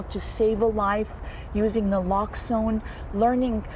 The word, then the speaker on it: naloxone: how you say it naloxone yes it's it's naloxone can literally save a life as as susan